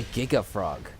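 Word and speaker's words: Giga Fraug: to remember its name of it's called a giga frog the frog is misspelled else on purpose f r a u g but pronunciation is the same the best thing you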